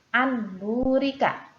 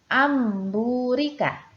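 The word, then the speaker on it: أن بورك: Untuk contoh selanjutnya yaitu tulisannya anburika. Anburika, ya. Di sini terdapat nun sukun bertemu dengan huruf ba juga, maka huruf ba berubah menjadi huruf mim. Cara membacanya amburika.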